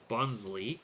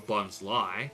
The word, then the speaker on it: Bonsly: More Bonsley, or Bonsly, depending on how you want to pronounce it.